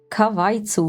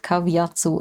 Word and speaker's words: Kavitsu: You are Kavitsu, not Kavatsu. I'm an idiot.